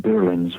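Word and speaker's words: birlinn: So these galleys, they call them birlins, which is spelled B-I-R-L-I-N-N, birlin.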